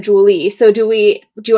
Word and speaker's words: Jule: I am in real life phonetically Julie spelled J U L E. No one ever pronounced it correctly. They pronounced it mispronounced it as Jewel.